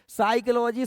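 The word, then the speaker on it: psyche: रहा दिखा रहे हैं साइकोलॉजी शब्द की उत्पत्ति यूनानी भाषा के दो शब्द एक है साइक देखो भले पी से शुरू हो रही है पी साइलेंट है कि अंग्रेजी में चाज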